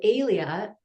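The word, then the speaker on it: Helia: And then later I realized that um so Alia is spelled H E L I A and it's Greek uh for sun, ray of sun, right?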